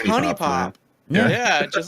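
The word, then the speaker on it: HuniePop: pronunciation of honey pop is it hoonie pop or honey pop please we've had my friend and i had a debate about this what is it and he responds back and he says people who pronounce our game name as hoonie pop are the reason that isis wants to kill us i feel bad about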